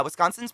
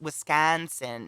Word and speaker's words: Wisconsin: water fountain and yeah wisconsin's pronounced wisconsin not wisconsin as folks from others say yeah that's what they